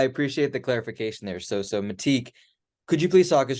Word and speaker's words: Mattiq: Am I pronouncing that correctly? You can say it however you like. I say Mattiq, but certainly the IQ infers that there's some